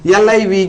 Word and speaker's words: live: இந்த L-I-V-E- க்கு, நான் முதலில் ஒரு உதாரணத்தை எழுதிக் காட்டினால் , உங்களுக்குப் புரியும். சரி, முதலில், L-I-V-E என்ற வார்த்தை 'வசித்தல்' என்ற பொருளில் வரும்போது , அதை நீங்கள் 'liv' என்று உச்சரிக்க வேண்டும்.